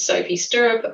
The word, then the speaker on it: Sophie Sturup: As you say my name is Sophie Sturrup.